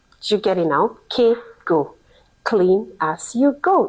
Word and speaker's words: CAY-GO: It's called the Kaygo practice. I don't know if you've heard of Kaygo before. It's spelled c a y g o.